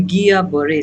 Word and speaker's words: Guillain-Barré: So the Guillain-Barré syndrome, yes, that is how it is pronounced.